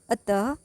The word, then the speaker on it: अतः: इनका उच्चारण केवल संस्कृत से आए कुछ तत्सम शब्दों के साथ ही किया जाता है। जैसे अतः, प्रायः, प्रता, पुनः, स्वतः आदि। इसका उच्चारण आधे ह के जैसा होता है।